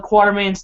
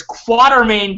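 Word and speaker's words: Quatermain: you could see Alan quarterman's there it's quarter main guys nobody and it's okay because nobody in the movies pronounces it right either but it's all it's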